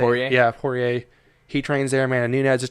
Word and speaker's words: Poirier: Yeah, Poirier.